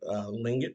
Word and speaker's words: Tlingit: Lingit tribe. It's spelled Tlingit.